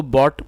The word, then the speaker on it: bought: बाई मतलब खरीदना और बॉट मतलब खरीदा, और जो इसकी करेक्ट प्रोनाउंसिएशन है वो भी आप ठीक कर लें, BOUGHT। तो इसको बॉट पढ़ना है, बॉट, और ये बाई की सेकंड फॉर्म है।